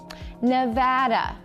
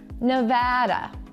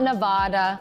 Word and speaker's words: Nevada: the state name correctly I'm going to say it for you and then I want you to say it with me are you ready Nevada now you say it Nevada now that's right it's not Nevada or Nevada or whatever the hell else you guys come up with it's Nevada so when you get